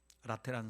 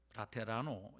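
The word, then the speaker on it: Laterano: 산조반니 인 라테나로 대성당, 라테란 성당. 이 라테란 성당이라는 말은 영어식 말이고요. 라테라노 이래야지 이탈리아식 발음일 겁니다.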